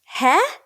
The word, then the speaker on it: He: So it's pronounced Heh, H-E-H.